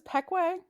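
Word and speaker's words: Pequea: about p iqui uh folks this is this is pekwe um this is actually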